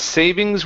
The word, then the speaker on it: savings: His savings were dwindling fast. His saving were dwindling fast. Okay. Make sure you pronounce that s.